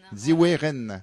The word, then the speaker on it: Zhiwei Ren: C'est comme ça qu'il faut prononcer Ziwe Ren.